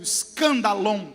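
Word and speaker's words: σκάνδαλον: Escândalo no grego, S-K, o S é mudo, escandalon, com N no final.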